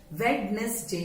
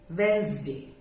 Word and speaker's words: Wednesday: Normally this day is silent. इस डे को हम बोलते नहीं जोर से. वेडनेसडे नहीं बोलना है, वेंसडे, वेंसडे. So this D sound is silent.